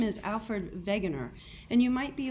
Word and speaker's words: Wegener: country is germany so in german the w is pronounced v so again i'm alfred wegener and i am much